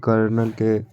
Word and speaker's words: colonel: इसी को कर्नल पढ़ा जाता है, कर्नल। ठीक है। तो ये नहीं कि कर्नल में र आ रहा है तो आर लगा दी, नहीं, कर्नल की स्पेलिंग यही होती है COLONEL।